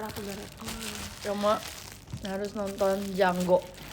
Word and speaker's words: Django: Cuma harus nonton Django. The D is silent.